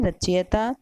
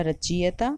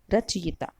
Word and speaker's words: रचयिता: या में मात्रा है उच्चारण करें तो पहला रचीयता खुद दूसरा इज्जत चीता और तीसरा रचयिता इन तीनों में से सही शब्द कौन सा होना चाहिए तो सही शब्द है अंतिम वाला रचयिता हमें अपना उच्चारण भी उसी हिसाब से ही रखना होगा क्योंकि हिंदी जैसी बोली